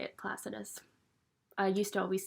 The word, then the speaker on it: Placidus: That's how you say it, Placidus. I used to always say it Placidius, but that's not actually even how you pronounce the house system.